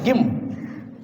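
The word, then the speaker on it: gym: and very famous word g y m then pronounce it gim tell it gim gim gim Okay g e r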